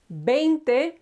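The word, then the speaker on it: veinte: followed by these the next round one is if you remember V is pronounced as a b so sound okay is 20.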